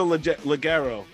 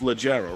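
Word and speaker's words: Leggero: So we have Natasha Laguerro. Why do I keep saying her name wrong? It's Legero, right? Natasha Legero at number 5.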